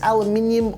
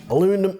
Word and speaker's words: aluminium: with I'm gonna say it's aluminium or aluminum for the deck. I don't know how you guys pronounce it wherever you're from.